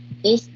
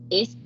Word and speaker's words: it's: it's, I cannot hear you say the s.